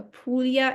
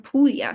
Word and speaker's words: Puglia: So why do some people call it a Pulia and some Pulya? So, this is a great question. Um, so pulya, the way it's spelled on the slide is the Italian spelling and pronunciation.